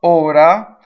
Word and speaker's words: ora: is closed e so let's talk about Ora having to do with time it's closed right Oh or REO a